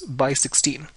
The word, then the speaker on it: x16: DRAM chip, you know, represented by this X16 notation, which is pronounced as by 16.